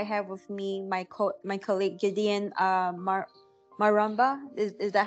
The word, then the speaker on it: Gideon Maramba: Today I have with me my colleague Gideon Maramba. Is that how I pronounced it?